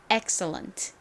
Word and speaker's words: excellent: 쓰였어요 그래서 이 x c 소리를 연결해서 그냥 스 소리로 발음해 주시면 됩니다 다음이는에 어이 소리 중에서 어 소리로 쓰였고은 한 개 우나 두 개 우나 릴 소리가 나죠 엑설 다음이 L 뒤에 모음이 왔으니까 이은 모음과 또 연결되어서 소리가납니다 그래서 리을 소리를 한 번 더 써 주시면 되고요이는 여기서도 어 소리로 쓰였어요 다음에는 니은 받침 끝에는 야하게 트 소리가납니다 연결해 보면 excellent 되죠 발음 연습해 볼게요 excellent excellent의